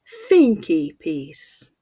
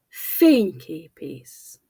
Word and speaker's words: fényképész: Now the second word, fényképész, fényképész, photographer. In English, the stress shifts, photographer, but in Hungarian it stays the same, fényképész.